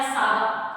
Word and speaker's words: saga: इसको प्रोनाउंसिएशन में कहा जाएगा सागा।